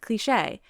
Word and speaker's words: cliché: And to me, I feel like it should sound like it ain't cliche, because I feel like that's how the word is pronounced, cliche.